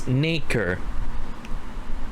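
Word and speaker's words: nacre: my Webster dictionary app wait I think it's naker based on the words yeah so okay let's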